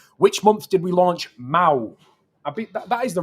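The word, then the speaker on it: Mahou: Which month did we launch Mao? That is the right way to say it. I'm saying it correct. It is Mao, isn't I'd it? say Mao. Mao, yeah. I think some people say Mahoo.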